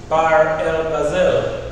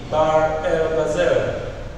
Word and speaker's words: Bahr el Ghazal: This is Bahr el Ghazal. Can you say Bahr el Ghazal? Repeat after me. Bahr el Ghazal. Let's spell it B A H R.